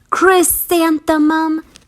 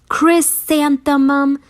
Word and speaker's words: Chrysanthemum: in the dirt say her name with me Chris Santa mum Chris Santa mum Chris Santa mum she wrote she even looks like a flower